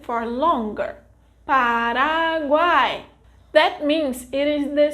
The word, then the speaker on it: Paraguai: vogal A will draw more attention, like this, Paraguay. Note that when we want to emphasize the pronunciation, the vogal A is pronounced for longer, Paraguay.